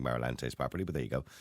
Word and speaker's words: Marlantes: Again, I hope I'm pronouncing Marlantes properly, but there you go. Marlantes Healing. Close enough. Yeah. What do you mean close enough? Do it properly for me then, so I get it right. Marlantes.